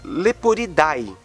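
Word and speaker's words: Leporidae: Coelhos e lebres é chamado de leporeday Lembrando que no latim quando nós temos as duas letras A e e juntas nós pronunciamos somente o e então o nome correto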